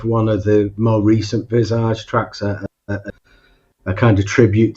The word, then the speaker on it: Visage: Visage. Sorry, I never knew how to pronounce it.